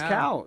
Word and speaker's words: Cao: you spell his last name c but you pronounce it C is that is that Co it's cow you you heard the moderator say Mr cow